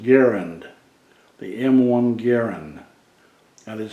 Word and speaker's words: Garand: you the M1 as known as the M1 Garand uh it is actually pronounced Garen the M1 Garen that is how John candas